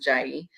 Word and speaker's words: Jie: And so I gravitated to the Jai people, and I pronounce it Jai. I've heard it pronounced other different ways, but they are a group from Uganda, and they are nomadic.